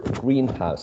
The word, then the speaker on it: greenhouse: Greenhouse, and it's a stress on the first syllable. If I stress it on the first syllable, I make it a compound noun, and I refer to the place where the vegetables are grown.